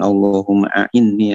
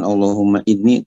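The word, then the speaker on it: اللهم أعني: bacanya, tapi yang pasti bukan Allahumma inni, tapi Allahumma a'inni.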